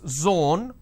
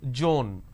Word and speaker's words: zone: sometimes interchange as well for example it's zone instead of saying zone they pronounce this as joan these are the mispronunciation